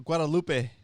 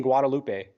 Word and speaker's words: Guadalupe: close right there brian guadalupe the e i'm sorry the e is like you pronounce it like it had a h at the end e h say it again well how